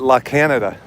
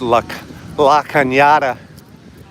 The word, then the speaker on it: La Cañada: I call it La Canada. You know? But it's pronounced La Cañada.